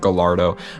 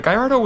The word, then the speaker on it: Gallardo: I used to always pronounce it Gallardo, but then I started watching like videos of British people pronouncing it Gallardo, and they sound so fancy.